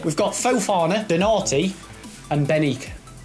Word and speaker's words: Benik: Benique. It's Benik. That's how you say his name, you idiot.